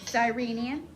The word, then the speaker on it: Cyrenian: The soldiers made a man, Simon, That's a soft C. Try the rest out. Cyprian, Cyrenian.